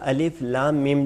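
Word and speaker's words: الم: کا جو تلفظ ہے، ان کا تلفظ وہی حروف تہجی کی طرح ہے، جس طریقے سے عرض کیا ہے کہ مثلا با تا سا، اسی طریقے سے الف لام میم، یہاں پہ دیکھیں الف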